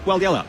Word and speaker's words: Walyalup: I said Walyalup, didn't I? Walyalup, 3 syllables.